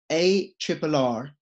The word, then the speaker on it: ARRR: The ticker symbol for Pirate Chain is ARRR, which is pronounced arr.